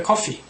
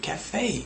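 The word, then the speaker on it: café: I went to the coffee. It's cafe, A-E, cafe, cafe, not coffee, okay?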